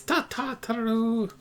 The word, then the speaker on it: Tataru: It's Tataru.